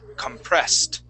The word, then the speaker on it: compressed: an ed word and this Ed ending will sound like a t compressed compressed compressed good good